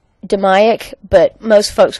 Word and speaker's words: DMAIC: need to make a change okay it's it's pronounced 'da miok but most folks call it the DMAIC alright the D stands for define this has